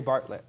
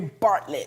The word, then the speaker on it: Bartlett: of your name Bartlett baby I can't say the city Bartlett like the Bartlett pears Bartlett yeah see roti right